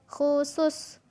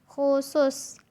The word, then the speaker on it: khusus: Nah, jadi kalau K dan H itu seperti mengucap huruf kho ya. Nah, teman-teman kalau tasin ada huruf kho. Nah, itu seperti itu cara pengucapannya. Kho, khu, khusus, khusus.